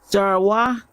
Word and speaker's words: Sarwa: How you pronounce that? Sarwa. It's Ghanaian.